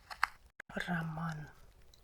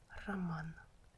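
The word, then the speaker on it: роман: For example, in the word Raman, romance or a novel Raman. Man is stressed. So instead of R, we read Ra here. weak short a ramon ramon.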